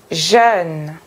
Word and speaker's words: jeune: mots avec le sont eux les régions votre prononciation jeune beur menteur est ce que vous êtes confortable